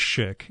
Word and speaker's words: Szyk: See, the thing with Schick, and it's spelled S-Z-Y-K, not Schick like the razor.